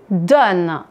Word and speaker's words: donnes: Tu donnes. Vous entendez, je ne prononce pas le S.